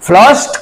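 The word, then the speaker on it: flushed: पर हुआ देखो फ्लॉस्ड फ्लस्ट का मतलब होता है हम उच्चारण में कभी-कभी उसको टी का उच्चारण करते हैं फ्लॉस्ट फ्लॉस्ट हुआ एक्साइटेड और इलिटेड बाय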